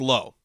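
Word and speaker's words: Lowe: guy Nathaniel Lao Lao is it low or laau it's low some some of the lows have it pronounced Lao this is a low but he is definitely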